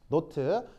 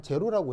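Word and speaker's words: naught: 자, 여기에 동그라미라고 쓴 건 읽을 때 노트라고 읽어요. 뭐라고 읽는다고요? 노트. 근데 이제 그 아무래도 입에 잘 안 읽기 때문에 보통 한국에서는 그냥 제로라고 해요. 근데 제로 아니고요. 원래는 노트인데 그냥 보통 그냥 우리나라에서 관습상 제로라고 합니다.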